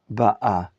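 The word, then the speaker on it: בָּאָה: Ba'a or ba'a? Please correct me and tell me what is the proper pronunciation. Ba'a. For the reason that the cantillation sign is under the aleph. That means he ba'a, present tense.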